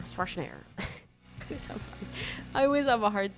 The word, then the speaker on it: Schwarzenegger: Schwarzenegger. Schwarzenegger.